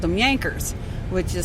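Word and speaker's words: Jankers: so they called them yankers which is spelled j-a-n-k-e-r-s and but pronounced j is pronounced as a y and so that's where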